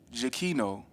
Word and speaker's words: Giacchino: Yeah, because I'll be looking at it like Pinocchio, and that is not that man's name. In his name. bio, he put how to pronounce his name. So, yeah. So Michael Giacchino, who is a super duper well-known composer.